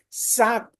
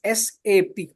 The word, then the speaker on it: SAP: my knowledge in Native German in Native German sap whenever we pronounce it as in sap whenever ever we